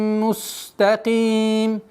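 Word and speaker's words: مستقيم: Аля сиратим мустаким. Мустаким. Так как син, свистящий звук, нужно дать полноту свойств, чтобы полноценно произносилось.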